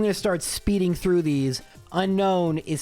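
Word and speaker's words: Unown: We pronounce it like unknown. There's two distinct N sounds. Unknown. We don't say unknown. And frankly, anyone who says that, it just sounds wrong.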